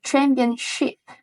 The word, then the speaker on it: championship: Okay, can you repeat the championship? Not the championship. You say sip, right?